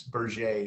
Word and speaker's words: Berger: So it looks like burger, but it's the French Canadian company, and it's Berger is how they pronounce it.